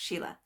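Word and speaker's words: Síle: to think that that is Sheila and that's pronounced Sheila the one with the H on the end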